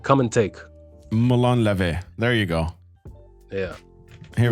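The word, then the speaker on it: Μολών λαβέ: So would you be able to give us how to pronounce the song title? Which song are you playing? Oh, the music video. Molon Lave. Come and take. Molon Lave.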